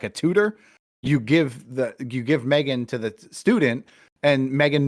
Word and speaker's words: M3GAN: It's called Megan. It's spelled M3GAN, and they develop a robot that pairs with the child that it's bought for.